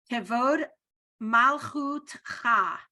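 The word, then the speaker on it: כבוד מלכותך: Kevod malchut cha is how you pronounce it.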